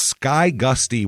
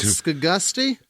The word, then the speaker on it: Skygusty: two in terms of insanity and this is Sky Gusty West Virginia that's a town Sky Gusty that's it's not ska Gusty it might be but it's so small that